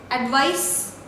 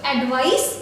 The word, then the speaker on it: advice: This is S, advice, alright, and this is Z, that is Z. So advice and advise.